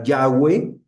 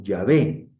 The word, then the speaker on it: Yahweh: Obviamente la mayoría de los estudiosos creen que se pronunciaba Yahweeh o Yahvé, pero es una creencia nada más.